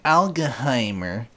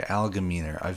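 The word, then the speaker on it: Algemeiner: So this is an article from the Allgeheimer, or however the hell you pronounce it, Allgemeiner. Sorry, Allgemeiner.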